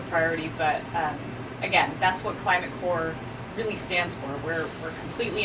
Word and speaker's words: Climate Corps: So that's climate-corps, the P is silent, .org, and look at our amazing fellowship and see what our fellows have accomplished in our 7 years of running.